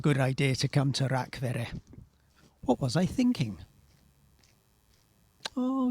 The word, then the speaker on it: Rakvere: Greetings from Rakvere. Apparently that's how you pronounce it. I've been calling it Rakvere.